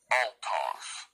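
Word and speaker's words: αὐτός: It's autos, A-U-T-O-S, this word right here. Strong's G846. Autos. Autos. Autos, right? Spelled like autos, A-U-T-O-S, okay?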